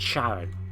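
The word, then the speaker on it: Charon: I thought it was Karen, or I mean, you can pronounce it Sharon as well, but.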